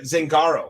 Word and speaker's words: Zangaro: I'm going to say this right, Zangaro, right?